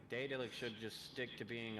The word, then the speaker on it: Daedalic: The developer of this one was Datalic Entertainment. Oh. Daedalic, I believe is how you say that.